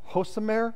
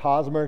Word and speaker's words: Hosmer: Someone's going to let me borrow a Hosamer. Is that how you pronounce his name? Hosamer jersey. I know it's Hosmer.